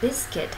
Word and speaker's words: Biscuit: Có hai âm tiết. Âm tiết đầu tiên nhận trọng âm, chúng ta nâng giọng lên. Và âm tiết thứ hai, chúng ta học đọc với giọng thấp hơn. Biscuit. B-I-S-C-U-I-T.